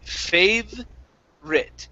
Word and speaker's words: favorite: saying favorite so um we do not pronounce this vowel right here okay so that vowel is silent we say fave writ favorite right but nope uh you're